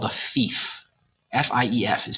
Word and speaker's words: fief: F-I-E-F is pronounced fief.